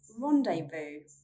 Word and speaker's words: rendezvous: I couldn't find a theory for the letter Z, and I actually only found one word, and that is rendezvous.